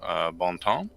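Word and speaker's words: Bon Temps: rural Louisiana town named Baum Tom which is pronounced like that by the locals yes sort of on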